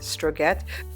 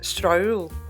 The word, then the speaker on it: Strøget: Well, actually it reads Strøget, but I went to look it up and learned that it's pronounced Strøget.